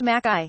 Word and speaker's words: McKay: But today, McKay, pronounced Mackay, is going for a mere stroll, an easy ride to space, virtually.